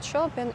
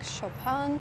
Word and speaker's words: Chopin: how I learned that it's not Frederick Chopin it's Frederick chopan now I am in